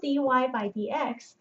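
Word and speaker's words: dy/dx: written down as d y by DX it's pronounced d y by DX um but this is not a fraction well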